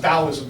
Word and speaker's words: Taoism: This is pronounced Taoism, by the way. It's a D sound, even though it looks like a T.